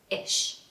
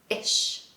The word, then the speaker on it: ish: Ish. Ish. The pronunciation is like the word fish without the F, okay? Ish.